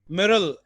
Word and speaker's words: myrtle: Rosemary, lavender, thyme, THYME, laurel, LAUREL, आर्बुटस, ARBUTUS, मिरल, MYRTLE, T silent है, मिरल, MYRLE, etc.